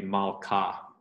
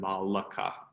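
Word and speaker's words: מלכה: So that would be malka rather than malaka.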